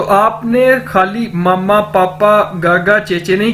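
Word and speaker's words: 和: दोस्तों next word है जी हमारे पास खा, HE। इसको इंग्लिश में तो हम पढ़ते हैं ना ही, लेकिन चाइनीज में H को हम ज्यादातर खे से प्रोनाउंस करते हैं, HE खा।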